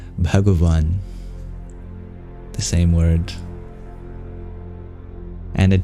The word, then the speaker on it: bhagavan: our English W wa so in Hindi you would pronounce the Sanskrit word bhagan but with proper pronunciation it is bhagavan the same word and